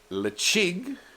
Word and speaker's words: Ledaig: right out of the way now that's how it's spelled leig is how it's pronounced and it means Safe